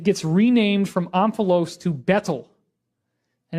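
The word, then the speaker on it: baetyl: renamed from omphalos to bettle and it's a little funny because the AE is kind of pronounced E so it's more like beetle now interestingly enough this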